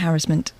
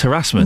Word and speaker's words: harassment: And but you are wrong about harassment. I'm not. It's harassment. No, it's not. If you're American, it's supposed to rhyme with embarrassment, which is what you are.